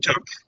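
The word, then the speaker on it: Pook: Just call me Took. I'm sorry, it's breaking up. P-O-O-K. It's pronounced Took.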